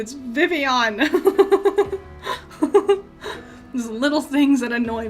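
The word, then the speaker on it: Vivillon: think it would be you would pronounce the L's but no it's vivon there little things that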